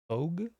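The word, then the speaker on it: tōge: Sorry, so in Japan it's spelled T-O with the line on top G-E. Okay, Togue. Yeah, Togue, yeah.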